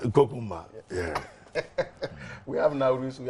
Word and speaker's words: Konkomba: No, yeah, but you know, you pronounce it. It's Konkomba. Kokumba.